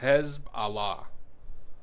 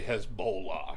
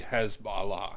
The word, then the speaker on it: Hezbollah: No, it's Hezb Allah. Americans say Hezbollah. Oh, okay. But it's really Hezbollah.